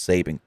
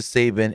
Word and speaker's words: Sabian: at sabian's request her is it Sabian or Sabin cu the way it's spelled is Sabian but I believe it's just Sabin Kip Sabin anyways um H